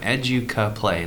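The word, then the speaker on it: Educaplay: p l a y educa play like education play obviously for short it's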